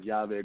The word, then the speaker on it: YaVe: So YaVe means key in Spanish, but it's spelled with two L's. So if you can't speak Spanish, it's like LaVe or LaVe, you say it weirdly. So YaVe, it's spelled phonetically YAVE, capital YA, capital VE.